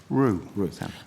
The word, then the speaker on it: Rue: Is it, so am I pronouncing it Rue or Rao? Rue.